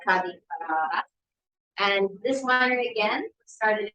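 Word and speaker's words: Ca' di Frara: Actually comes from Casa Ferrari, the name of the town, but in local dialect here, they say Cadi Ferrara.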